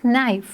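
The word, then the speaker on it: knife: कैसे प्रोनाउंस करेंगे school please give me this नाइफ give me जो है वह एक साइलेंट लेटर है हम इसको प्रोनाउंस नहीं करेंगे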